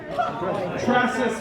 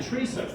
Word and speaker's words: Tressa: And whose name did he mispronounce? Tressa Smith. You said Teresa.